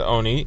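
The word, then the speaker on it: עני: So the Torah calls matzah lechem oni, which is spelled ayin vav nun yud, which is spelled ayin nun yud but pronounced oni.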